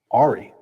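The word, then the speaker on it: awry: There's also Ari, right?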